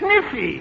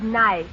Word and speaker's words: knife: spell the word k-n-i-f-e that's kniffy no the word is nice k is the silent letter k is always silent in front of n is that though what